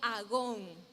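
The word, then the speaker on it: ἀγών: el que se escribió, es una palabra que se pronuncia agón.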